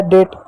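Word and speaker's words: date: टी का ट पढ़ेंगे, हो गया डेट, ई साइलेंट होगा।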